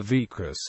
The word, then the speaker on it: vicus: some such as the vus deorum grew into Regional centers and even provincial capitals modern place names the Latin term pronounced with an initial you was adopted into Old